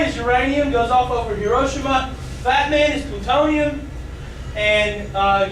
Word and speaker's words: Hiroshima: Or the Japanese say Hiroshima, which I guess that's the way they say it, so I should say it like that. So little boy is uranium, goes off over Hiroshima.